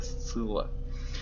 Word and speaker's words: Сцилла: Как это читается? Читается это Сцилла.